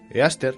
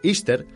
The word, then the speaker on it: Easter: Después de que Constantino decidiera cristianizar el imperio, la Pascua cambió para representar a Jesús, pero en sus raíces, Easter, que se pronuncia como Istar, está dedicada por completo a la celebración de la fertilidad y el sexo.